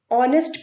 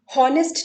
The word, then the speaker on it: honest: इसको हम ऑनेस्ट pronounce करते हैं, ऑनेस्ट, हॉनेस्ट नहीं। पर आप यहाँ देखिए कि इस शब्द में एच जो है शामिल है पर इसका कोई यूज नहीं है।